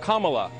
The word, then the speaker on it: Kamala: the senate her name is pronounced comma like the punctuation mark look kamala okay okay seriously i've